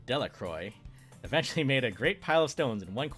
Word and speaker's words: Delacroix: and harry jones and dickie delaqua the villagers pronounced his name delacroix eventually made a great